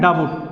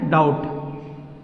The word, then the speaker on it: doubt: हैं डाबुट, बोलते हैं डाबुट, जो गलत है, क्योंकि टी से पहले बी आया है, टी से पहले बी आया है, तो DOUT, टी से पहले बी आया है तो क्या हो गया, बी साइलेंट हो गया, तो इतना पढ़ना है, DOUT, यानी पढ़ने के लिए इतना, लिखने के लिए बी लिखना है, यानी इसको बोलना है क्या, डाउट, डाउट।